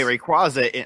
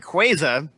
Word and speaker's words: Rayquaza: which you write a Rayquaza I'm sorry Rayquaza is apparently the proper pronunciation to this now Rayquaza into space